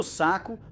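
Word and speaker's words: Sacco: Ele foi desenhado por Bruno Saco, pronúncia italiana, que também fez o 190 e o W 124.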